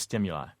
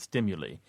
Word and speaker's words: stimuli: would have point-blank said, the usual pronunciation of that word is stimuli. because I would want to save her the embarrassment of speaking in front of a large body of her peers and pronouncing it as stimuli.